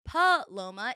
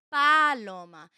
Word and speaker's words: Paloma: always adjusted to saying my name is Paloma it's a like pronounced p-u-h and my mother growing up as I was a little girl was like still like that's not your name you have to say my name is not paullum let's Paloma and I'm like yeah it's really hard to just like jump into people and be like oh it's not palom it's Paloma and it's like hard